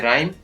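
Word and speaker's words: rhyme: इसी प्रकार RH साथ में हो तो H का उच्चारण नहीं होता है, जैसे राइम, रिदम, रेटोरिक।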